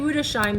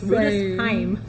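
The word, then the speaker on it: Rüdesheim: Which I've been saying Rudesheim this whole entire time. Yes. And Betty made sure to correct my German and say it's Rudesheim.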